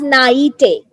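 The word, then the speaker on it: naïveté: this is actually uh a so it's it's pronounced as naity so what do you think what's the meaning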